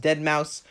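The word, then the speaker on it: Deadmau5: Oh, by the way, yeah, I'm calling him Deadmau 5, okay? I know it's technically pronounced Dead Mouse, but it's a 5, okay? It's Deadmau 5, okay? That's how it's spelt. I'm going to say it like it.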